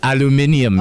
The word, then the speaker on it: aluminium: Aluminium, yeah. So that's like a British pronunciation.